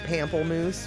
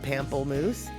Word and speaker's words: pamplemousse: moose heads and and my mispronunciation of pamplemousse which is actually um grapefruit in french but it's not said pamplemoose so um so let's